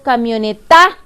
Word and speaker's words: camioneta: me o no está si la digo completa es camioneta la sílaba que pronunció con mayor fuerza 2 en la net porque yo digo camioneta yo no digo camioneta me digo cambio neta mucho menos digo camioneta yo digo camioneta por lo tanto la sílaba tónica es la sílaba ne para que suene camioneta